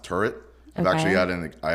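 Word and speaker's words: Tyrwhitt: who Charles his Charles turt is actually pronounced turret I've actually had in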